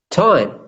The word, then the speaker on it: time: Time. All right, so when it's Tim, the I is very short, Tim, right? Yes. But when I say this, time, Time. this is it's longer, right?